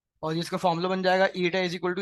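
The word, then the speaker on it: η: इस denoted by Etah Greek letter है जिसको हम प्रोनाउंस करते हैं एटा एस इस डी रेशों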